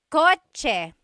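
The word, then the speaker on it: kotse: The cha-ch sound is a ts combination. Coch car is coch with a ts spelling.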